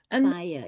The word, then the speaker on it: Bayer: projects products and Bayer I don't know how you pronounce it in different countries but it's B A ye R buer in Germany yeah yes I think it's buyer in German but um but there